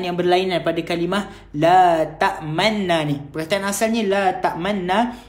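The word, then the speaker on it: تأمنا: Okey, cara baca dia sebenarnya ialah qalu ya abana malaka la ta'manna. kita masukkan dekat nun tu dan mulut kita muncung sebagai tanda kita ismamkan dia.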